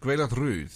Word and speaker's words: Gwaelod Rhydd: Gwaelod Rhydd. Gwaelod Rhydd, yeah, that's the one. Yeah, because the double D is a the with Rhydd, voiced.